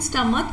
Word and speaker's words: stomach: says to us is if a noun has ch at its end but its pronunciation sounds like k we will use s